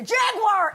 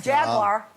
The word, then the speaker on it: Jaguar: roughly no not a Jaguar if you're going to promote them at least learn to say it properly how am I say you are three syllables over it yeah you say you're saying Jaguar okay I don't have